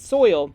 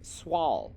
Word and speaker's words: Soil: While it looks like it says soil, it is actually pronounced Swall.